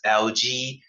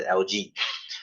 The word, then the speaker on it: algae: we have protozoa okay I pronounce this as LG I don't pronounce it as algae because it looks straight that sounds really funny I just pronounce the LG so what are they